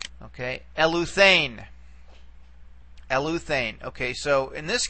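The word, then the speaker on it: ἐλύθην: All right, now remember, eta is a long vowel, okay, so our accent can only go back one syllable from the eta. So we will bring it back to here.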